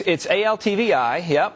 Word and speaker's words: ALTVI: And you call this the ALTV index. Am I pronouncing that correctly? It's ALTVI, and it's actually something